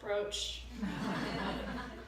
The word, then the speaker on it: brooch: It's a brooch. Now you can wear it and know how to pronounce it as well.